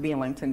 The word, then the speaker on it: Belington: almost 10 miles away Belington West Virginia it's pronounced Belington B the local people but it's spelled b